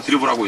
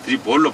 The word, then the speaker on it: 드리블: 드리볼이라고 우리가 발음하지 않습니까? 네. 드리블입니다. 드리블. 예. 근데 되게 이제 아나운서들이 듣고 있으면 누구 선수 드리블하고 있습니다. 드리블로 안 하고 드리볼로 발음을 하는 습성이 있죠. 포워드는 이제 포워드.